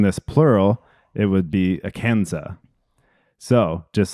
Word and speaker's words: Arkansas: Arkansas comes from the Quapaw tribe, but the French explorers called it Arkansas. You called it, dude. Yes. The French don't pronounce their S's, so Yeah. making this plural, it would be Arkansas.